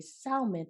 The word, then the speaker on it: salmon: my Black folks say salmon. So I'm like, do we just, is it like a language thing? Yeah. Is it like a dialect? Right. I'm like, I know the L is silent.